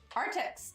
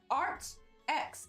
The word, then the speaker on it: Arrtx: that makes sense Holly say it properly okay our ticks oh art X okay I like that better do I okay either